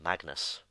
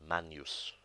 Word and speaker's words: magnus: word meaning great and it's commonly mispronounced Magnus but it's actually pronounced man use the letter H is